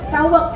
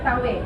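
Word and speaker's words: tawek: Dalam persembahan tawid ini turut juga disatukan tawak ya bukan tawik. Ha ejaan dia t a w e k. Kita yang bukan bangsa kayan sebut tawid sebenarnya tawak.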